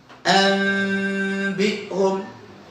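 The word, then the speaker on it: أنبئهم: Proses ketiga adalah gunnahkan. Kalau gunnahkan berarti berapa harakat? 2, jangan lebih dari 2. Jadi bagaimana bacanya? Anbihum min ba'di zaujin bahij. Itu proses iqlab. Yang benar begitu. Yang sahih begitu.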